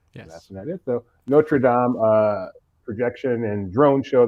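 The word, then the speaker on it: Notre-Dame: full video of their notra Dam apparently is the way I'm supposed to be pronouncing it yes that's that it though notredam uh projection and drone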